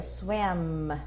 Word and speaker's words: swam: Toda vez que eu faço o som do M, eu tenho que fechar a minha boca. Então, toda vez que eu faço o som do M, eu fecho a boca.